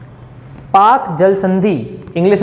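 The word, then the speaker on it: Palk: पाक ही है वो, पाक, पाका PAL के, हाँ वो के वहाँ पे साइलेंट, एल जो है वो साइलेंट रहता है, ठीक है।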